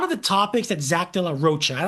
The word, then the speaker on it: de la Rocha: A lot of the topics that Zach Dear Roachcha, I don't think it's Delar Rocka. I think it's Dear Roachcha, the way he the way he pronounces it, Chris. Okay. De la Rocha.